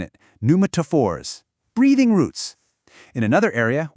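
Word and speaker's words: pneumatophores: The P is silent. Try saying it. Numaphors.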